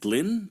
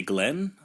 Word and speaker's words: Glyn: Would that be Glenn? I think it's Glyn because it's Glyn. Yeah, it's definitely how it's spelled. But I thought it was maybe like Welsh or something crazy, where it's like, hey, man, it looks like something, but it's just Glenn.